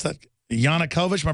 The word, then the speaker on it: Yanukovych: How do you pronounce that? Yanukovych?